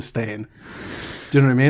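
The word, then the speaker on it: Berenstain: I think it's always been spelt that way, but we've just always said it Steen as opposed to Stain.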